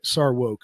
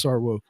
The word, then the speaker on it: Sarwark: sarwark who well i saw woke i mispronounced his name it's sarwoq but uh back then